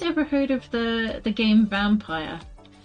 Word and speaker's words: Vampyr: Um, but yeah, it's spelt like Vampyr, and that's literally just what it's called.